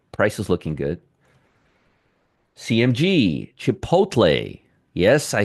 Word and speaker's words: Chipotle: CMG, Chipotle.